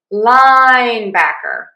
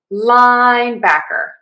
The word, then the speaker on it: linebacker: So to say this name of this position, we are going to stress syllable one. Linebacker. Linebacker. Linebacker. Linebacker. Linebacker. We do have secondary stress on back. So it almost sounds like we're falling. Linebacker. Linebacker. Linebacker. It's not linebacker. No, it's linebacker.